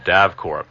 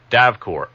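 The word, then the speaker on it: DAVKORE: All of our archive shows are available from a tape duplication service called DAVCore. That's spelled D-A-V as in Victor, K-O-R-E.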